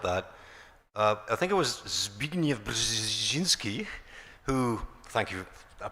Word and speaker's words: Zbigniew Brzezinski: To throw a curveball at that, I think it was Zbigniew Brzezinski who, thank you, I pronounced that correctly, absolutely did.